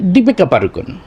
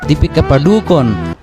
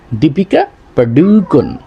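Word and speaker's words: দীপিকা পাড়ুকোন: এটা মূলত উচ্চারণ হবে দীপিকা পাডুকন দীপিকা পাডুকন এখানে আমরা লক্ষ্য করলাম কি পারুকন হবে না পাডুকন ডয় রসুকারে এখানে এখানেও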